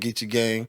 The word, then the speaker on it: Geechee Gang: That's correct way to say it, Geechee Gang.